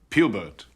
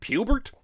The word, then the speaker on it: Pubert: child could live with pubert pubert's a funny name it rhymes with cubert at least i think